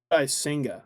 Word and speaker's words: Kodai Senga: How did you pronounce that last guy's name you just said? Kodai Senga? Kodai Senga.